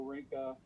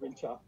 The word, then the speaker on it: Rinca: it says Flores, Moto, Rinca. It's actually pronounced Rincha.